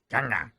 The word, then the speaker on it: Kanga: Kanga. Thank you, though. He's very pleased that you're pronouncing his name correctly.